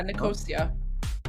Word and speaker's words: Nicosia: I forgot how to pronounce this. Nico Nikosia. Yeah, Nikosia. Nicosia.